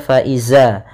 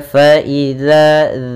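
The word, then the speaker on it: فإذا: ada Mad thaii kemudian harus hati-hati dalam pelafalan dalzal jangan terbaca faizza jangan terbaca dengan bacaan dza tapi dia faidza dza kemudian Hum ada mim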